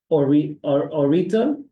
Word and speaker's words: Orita: Orita, Orita. You said it right the first time when you introduced me. Orieta, right? Yes, Okay, good.